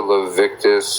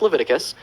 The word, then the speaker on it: Leviticus: I'm waiting all right so there's a 1822 levius 18 it's pronounced it's it's pronounced Leviticus uh I have a question so you think